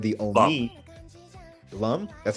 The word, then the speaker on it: Lum: with a race of aliens their princess named Loom they're called the only Lum that's how it's pronounced yeah it's Lum it's Lum my bad